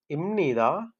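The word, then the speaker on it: 입니다: முன்பப் வந்து என்னன்னு சொன்னா இம்னிதா இம்னிக்கா அப்படின்னு சொன்னதால முன்போப்புதான் தந்திருக்காங்க பாருங்க இம்னிதா பாருங்க கீழ வந்து இப்னிதான்னு சொல்லிதான் தந்திருக்காங்க இப்னிதா அதே மாதிரி இப்னிக்கா இது வந்து நாங்க உச்சரிக்க போறோம் எப்படின்னு சொன்னா இந்த புக்கு பதிலாக முன் நாங்க உச்சரிக்க போறோம்.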